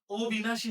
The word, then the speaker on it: অবিনাশী: তাহলে এখানে ব এর সাথে ই আছে। তাহলে হিসাবে অ এর উচ্চারণটা তো অবিনাশী হওয়ার কথা। কিন্তু হবে না। কেন হবে না? ওই যে এখানে অ যুক্ত হইছে। যে শব্দের পূর্বে ওই শব্দের পূর্বে অ যুক্ত হয়ে বিপরীত অর্থ দিয়েছে। তাইলে আর অ এর উচ্চারণ সংগৃত হবে না। ও হবে না। অ থাকবে।